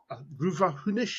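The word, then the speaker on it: Rubha Hunish: It's Ruhunish, is that how it's pronounced?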